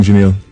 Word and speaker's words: Janelle: Good morning, Janelle. Morning. So I pronounced it right?